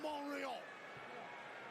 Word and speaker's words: Montreal: Zayn putting on a 6-star instant classic in Montreal. I don't know why they don't pronounce the T. It's clearly there.